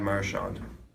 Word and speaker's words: Marchand: He puts the emphasis on the first the mar. syllable.